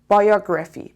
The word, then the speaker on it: biography: Biography. بچه دقت کنین، ما تو فارسی میگیم بیوگرافی. خب توی این تلفظی که تو فارسی میگیم بعضی وقتا یه